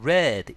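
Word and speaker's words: read: 깨지고 즉 풀리고 and red 읽혀진다면 발음 조심하셔야 되죠 이거는 PP 과거분사 형태 동사 위드에 변형된 거기 때문에 과거분사 레드 발음이 됩니다 즉 암호가 풀리고 깨지고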